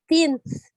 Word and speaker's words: things: Things. Oh, yes. Things. So try to make sure you pronounce the TH. Don't forget. For the TH, you want to make sure you sound out. Things. Things. Things.